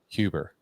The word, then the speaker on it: Huber: Today, I've got the honor and pleasure of welcoming Miss Regina Huber. Did I pronounce that right?